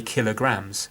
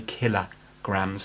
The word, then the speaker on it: kilograms: it wrong we say kilograms Google it you know check it out on YouTube for prints in the pronunciation of how we say kilograms so we don't say kilo grams we say killer grams so it's not just